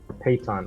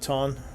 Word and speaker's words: piton: Or Payton, or I don't know how you pronounce it. Piton.